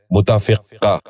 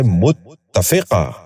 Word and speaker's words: متفقہ: غور سے سنیے، متحدہ۔ چوتھا لفظ ہے متفقہ۔ یہ غلط تلفظ ہے، درست تلفظ ہے متفقہ۔ دوبارہ سنیے، متفقہ۔ بچوں آپ بھی غور سے سنیے، متفقہ۔ پانچواں لفظ ہے مثبت۔